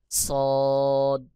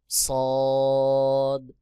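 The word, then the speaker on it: صاد: যেমন শিন শিন সদ জিহ্বার আগা সামনের নিচের দুই দাঁতের পেট ও আগার সঙ্গে লাগাইয়া সদ উচ্চারণ হবে যেমন সদ সদ সদ এরপরে রয়েছে বদ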